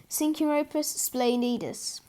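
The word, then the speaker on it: Synchiropus splendidus: Pronunciation, Synchropus splendidus.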